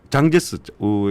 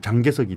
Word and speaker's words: 장제스: 현직 의원이고 근데 저 장제스 옛날 그 발음으로 하면 장개석이 되겠죠 장제스의 정손자입니다 그래서 상당한